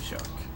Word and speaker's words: Jacques: boss level jacques yes is jacques not jack not jackie's jacques and there's there's a reason why he's called jack or shock the french way of pronouncing it would be shark and yes i am